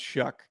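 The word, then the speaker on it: Shough: shuck sorry shuck Tyler shuck he got a weird no it is it's s h u g but it's pronounced shuck it doesn't have a K in it yeah I don't h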